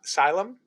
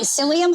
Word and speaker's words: psyllium: so I bought some uh how do you pronounce it Salem Asylum husks uh so it's like uh only psyllium Huskers yeah I know what you're telling I